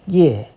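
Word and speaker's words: 頁: It's pronounced ye.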